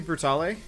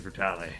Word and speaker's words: Brutale: You almost certainly don't pronounce the E, but it's a weird word. Italians would say Brutale, but yeah.